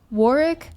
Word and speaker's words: Warwick: war uh it's pronounced Warick. I pronounce it Warwick because I refuse to acknowledge that the UK cannot remember to pronounce the extra W in the word.